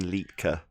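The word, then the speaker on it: Liedtke: old worlds go to martin litki l-i-e-d-t-k-e that's martin litka that's how you say it welsh guy and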